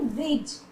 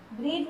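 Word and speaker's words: bridge: फिर ब्रिज, ब्रिज में भी डी का साउंड नहीं हो रहा।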